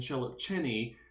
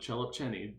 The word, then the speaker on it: Szelepcsényi: main result which is due to immerman and chellip cheney and yes that is how you pronounce it cellop cheney i've looked it up that's how you pronounce